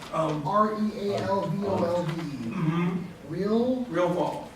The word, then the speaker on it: Realvolve: REALVOLVE. Real, RealVault. VOLV, like revolve, but real.